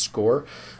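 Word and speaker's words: SCOIR: resources we have is is a tool called score SC c i r so it's pronounced score um it houses things like we have personality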